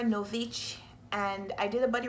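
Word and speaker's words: Nović: Girl at War by Sarah Novik, I think the name is pronounced. I've since learned that the name is pronounced Sarah Novich, and I did a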